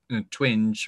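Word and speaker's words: Twenge: done by professor jean i think you pronounce her surname twinge or twing t-w-e-n-g-e um where she looks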